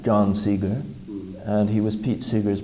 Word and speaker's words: Seeger: John Seeger, and he was Pete Seeger's brother. Really? Yeah. Oh, so it's spelled S-E-A, is it?